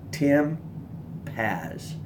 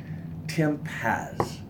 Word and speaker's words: Paz: Paz, Tim Paz, P-A-Z. I'm not good at like remembering names, but once I know someone's name, I want to pronounce it right. Tim Paz.